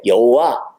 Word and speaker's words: 여호와: 그 아도나이의 몸을 갖다가 이 야훼라고 하는 원래 이 글자에다가 그냥 갖다 붙인 거예요. 그래서 야훼, 여호와, 야훼 이렇게 발음이 되는 거예요.